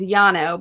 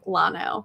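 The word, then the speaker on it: llano: oh jer lily says the proper pronunciation is yano but the locals say lano yeah that's good that's what we're learning about texas like yano with the double l's that's definitely a spanish word so the double l's you pronounce with the y but yeah in texas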